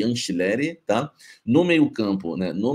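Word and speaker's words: Angileri: Anchileri, como se fosse com CH ou com X, Anchileri. Anchileri, tá? Então nós vamos ter Hugo Souza, Mateuzinho, André Ramalho ou Félix Torres, Gustavo Henrique e Anchileri, tá?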